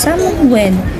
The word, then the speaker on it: Samhain: Samhain is a Gaelic word pronounced Samhain.